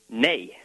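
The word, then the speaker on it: nei: say no in Icelandic nay nay and how do you spell it NE okay nay well that's understandable over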